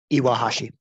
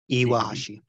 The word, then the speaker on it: Iwahashi: um okay who's this guy zenie didn't you pronounce that first name for me iwahashi iwahashi yeah uh this guy is born inaka also